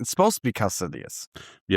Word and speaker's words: Kaecilius: It's Kaecilius. Dude, but there's But it doesn't look like that.